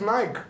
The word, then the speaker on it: Nike: the E on Nike. Nike, Nike. Nike. We always pronounce the E here.